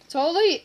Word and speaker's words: Tolly: Tolly? It rhymes with Sally, and it's weird.